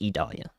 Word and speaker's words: Idalia: watches that are issued it is idolia it is pronounced Italia Edgewater if you're in